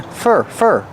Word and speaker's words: for: And we hear the pronunciation of for change to fur, because it's not a stressed word.